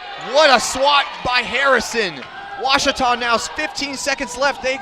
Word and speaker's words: Ouachita: Wichita. Achita. Ouachita. Is it pronounced Ouachita? Searching for Ouachita Baptist University. Back in Texas, everybody pronounces it Wichita, but really, it's Ouachita.